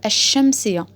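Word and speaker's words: الشمسية: Vous avez constaté qu'on ne prononce pas le lem, mais qu'on dédouble la lettre. On met la shadda à la lettre qui suit le lem. Al-shamsiya. Ici, on a mis la shadda sur le shin.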